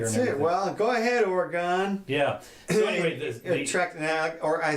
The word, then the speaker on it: Oregon: Well, go ahead, Oregon. Yeah. So anyway, or I should say Oregon. That's how they like it pronounced.